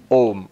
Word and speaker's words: Om: um but luckily fortunately when you write it as om in English that's actually the correct pronunciation ohm is the correct pronunciation